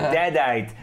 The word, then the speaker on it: Deadite: the hero of pronunciation destiny is the I've hero. been saying it wrong the whole time. It's deadite.